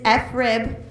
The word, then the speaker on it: FRIB: And the FRIB, you don't say FRIB, it is FRIB. It is less fun, but that's how you say it.